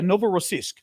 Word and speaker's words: Novorossiysk: Is that the way you pronounce it? Yeah, Novorossiysk.